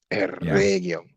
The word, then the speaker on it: Eregion: Eregion. There you go. How do you say it, Nick? Eregion. There you got to roll your R's, but then don't pronounce your R's in any other words.